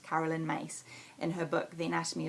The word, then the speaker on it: Caroline Myss: Now, Caroline Myss, it's written Caroline Myss, M-Y-S-S, but my teacher taught me recently it's pronounced Caroline Myss in her book, The Anatomy of Spirit.